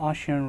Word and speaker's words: Eshean: despite her name sound spelled as e but the pronunciation sounds as an a Asians so what do